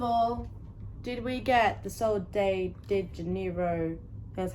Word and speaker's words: Sol de Janeiro: First of all, did we get the Sol de Janeiro, that's how you say it, dupes?